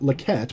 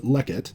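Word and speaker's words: לֶכֶת: before an accented syllable not lequette but lekkit that's what causes the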